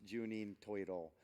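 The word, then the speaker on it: 十人十色: would be different strokes for different folks it's pronounced juninho toy at all it really means ten people ten colors but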